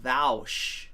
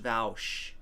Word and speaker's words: Vaush: with that it's pronounced vowsh it's pronounced vowsh academia in terms of